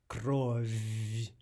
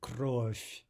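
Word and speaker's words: кровь: The word for blood is not krov, but krov, krov, right, with an F sound, a soft F.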